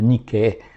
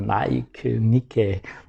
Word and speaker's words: Nike: esporte né que se chama niqué que a gente pronuncia meio americana Nike é a palavra grega significa Vitória e dentro da palavra desse